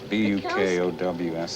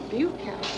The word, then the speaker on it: Bukowski: Bukowski. B-U? Buke to rhyme with puke, yeah. Bukowski.